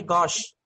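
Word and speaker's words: gauche: में ठीक है जिसमें एक शब्द है गश मैं स्पेलिंग बताता हूं लिखिए जी ए यू सी एच हम लोग अक्सर कहते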